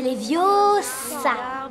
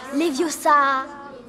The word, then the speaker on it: Leviosa: C'est Leviosa et pas Leviosa.